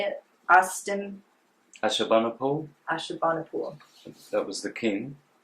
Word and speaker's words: Ashurbanipal: Ashurbanipal.